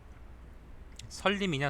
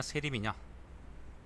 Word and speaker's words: 세림: 그 다음 편은 뭐냐면은 설림이냐 세림이냐, 이게 말씀 설자인데 보통 우리가 유세할 때 세라고 읽기도 하거든요. 지금 보니까 유세객들의 이야기를 모아놨다고 하네요. 그래서 아마 세림이라고 하는 모양이다.